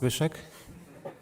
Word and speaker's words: Zbyszek: in Polish it's pronounced Zbyszek.